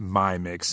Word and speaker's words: Mi Mix: and checking out this I think it's pronounced my mix in my mix I would say it's just a play on that little on my mix instead of my pretty